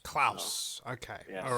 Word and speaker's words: Klaus: Is it pronounced Klaus like Santa? It can be, but usually it's Klaus. Klaus. Okay. Yes. All right. Klaus, like the fish in American Dad.